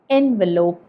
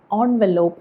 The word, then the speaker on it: envelope: ഈ വാക്ക് നമ്മൾ ഉച്ചരിക്കുന്നത് എൻവെലോപ്പ് എന്നാണ്, അല്ലെങ്കിൽ ഓൺവെലോപ്പ് എന്നും പറയാം. അപ്പോൾ എൻവെലോപ്പ് അല്ലെങ്കിൽ ഓൺവെലോപ്പ്.